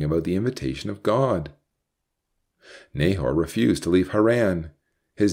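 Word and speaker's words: Nahor: the invitation of God Nahar refused to leave haran his name means snorer in the Hebrew it's even pronounced like a snore he was too lazy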